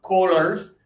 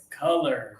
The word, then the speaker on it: colors: It's not corners. It's not collars. It's Yeah, Abdullah, I like it. I heard the pressure in your stomach. It made a good sound. Colors.